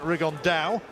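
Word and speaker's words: Rigondeaux: he's talked about fighting rigondo or as he's correctly pronounced with the uh spanish accent rig on dao and two absolute geniuses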